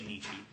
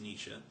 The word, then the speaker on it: Nietzsche: I was taught to say Nietzsche, so I say Nietzsche, but it is pronounced Nietzsche.